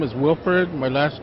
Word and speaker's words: Wilford: Here with Wilfred, and I'll let him pronounce his last name. Like you said, my first name is Wilford.